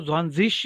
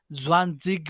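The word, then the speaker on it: Zwanzig: म्हणजे कभी कभी लोग वो ज्वानजिश बोलेंगे, ज्वानजिग भी बोलेंगे. सो दोनों करेक्ट है, दोनों करेक्ट है.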